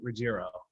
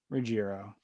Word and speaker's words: Ruggiero: I'm followed by fellow Italian American and singer songwriter Ruggiero. Ruggiero. How does everybody pronounce it? Well, everybody pronounces it different, but Yeah, actually the real pronunciation would be Ruggiero. Ruggiero.